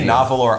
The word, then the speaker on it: Nahvalur: I'm gonna keep calling it Narwhal because I can't spell Nahvalur. I only learned how to say it correctly, 2 weeks ago? It's been around for just now. Right. So I rehearsed it. It does say Nahvalur on the box, but don't be fooled.